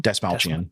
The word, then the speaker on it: Dastmalchian: Dastmalchian.